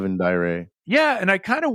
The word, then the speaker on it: Daire: but it's Yeah, pronounced crumb dove. and It's a the other great one name. was Dire. Dire, yeah, The Daire, king of the Dire.